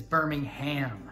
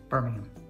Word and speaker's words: Birmingham: were from Birmingham yes this is very confusing for Americans because the place in Alabama is Birmingham yeah yes but when you go to England it's a big city and it's Birmingham Birmingham and then there's Robin Hood nodding